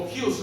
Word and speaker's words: Hus: John Wycliffe, aquí para que lo veas cómo se escribe, y John Hus, o Hughes, algunos lo pronuncian así.